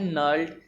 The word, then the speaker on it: gnarled: GNARLED। जी इसमें साइलेंट है, नर्ल्ड।